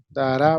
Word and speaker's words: dará: Dará, va con acento en la A.